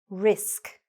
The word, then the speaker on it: risk: for example, is to make sure that you're not elongating the I. Don't say risk. No. Say, nice and short and sweet, risk. The I is very short here.